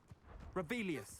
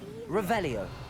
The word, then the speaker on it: Revelio: Revelius. Saying it wrong. Incendio. Revelio. Much better.